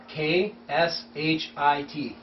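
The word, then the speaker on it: क्षिति: Sanskrit word for earth kh i But the K is silent.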